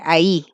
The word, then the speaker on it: ahí: Pero este se pronuncia distinto, porque si ven tiene una tilde aquí, entonces no se pronuncia I, sino que ahí, ¿ya?